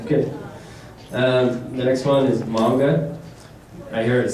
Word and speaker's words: manga: I hear it saying manga a lot, but that's the American version, and that's fine. But when you go to Seattle and stuff, you'll hear people saying manga. Just that manga.